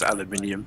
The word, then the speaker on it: aluminium: of this aluminum okay spelled aluminium mhm and pronounced aluminium as well right yeah the only